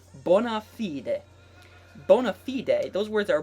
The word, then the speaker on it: bona fide: this a lot, is bona fide, or the correct Latin pronunciation would be bona fide.